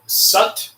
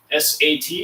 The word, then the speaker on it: Sat: For this posture, we're going to be chanting Sat, S-A-T. It sounds like Sat, S-U-T, but it's spelled S-A-T.